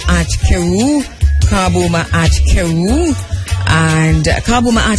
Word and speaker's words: Kabu: By the way, Kabu is spelled K-A-B-U, and Ma'at is M-A-A-T, Kheru K-H-E-R-U, so it's Kabu with a K, K-A-B-U.